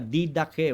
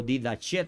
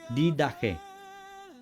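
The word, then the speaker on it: διδαχή: Es la palabra didaje o didach, también se se pronuncia didaje.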